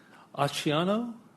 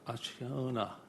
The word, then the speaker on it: Acciona: Aciano? I butchered it. Aciona.